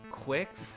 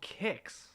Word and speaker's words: Qix: I've just been informed that apparently I've been mispronouncing the name of this game for years I always thought it was called quicks like Nestle Quik quick mix or whatever um but apparently it's called kicks which as someone who knows how to read